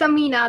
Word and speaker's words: Amina: spoke your name wrong it's amena is that how you say it or amina it's amina the way you were saying right but then i put